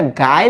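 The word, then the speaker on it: Guy: এখন একটু খেয়াল করো, হ্যাঁ, এই যে এই শব্দটা, হ্যাঁ, এটা গায়ে লেখা না, অ্যাকচুয়ালি এটা ফ্রেঞ্চ ভাষায় এটাকে উচ্চারণ করে হচ্ছে গি, আর এখানে যে ডে লেখা না, এটা উচ্চারণ করি আমরা দ, হ্যাঁ, মোপাসা।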